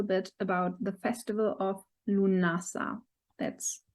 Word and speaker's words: Lughnasadh: share a little bit about the festival of lunasa that's how it's pronounced i've been told lu nasa what it's